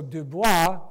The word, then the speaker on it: Dubois: So Dubois went out. I know it says Du Bois, but in French it's Dubois.